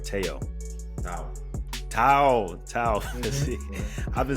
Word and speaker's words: Tao Physique: Muchacho Ringmaster himself, Teo Physique. That's how you pronounce it, right? Teo. Now, Tao Physique.